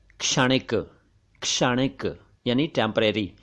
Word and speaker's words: क्षणिक: उच्चारण देखिए, क्षणिक, क्षणिक नहीं। ऐसे ही पहले क्षण नहीं था, क्षण नहीं था, वैसे ही ये क्षणिक नहीं है, क्षणिक नहीं है, बल्कि ये क्षणिक, क्षणिक है।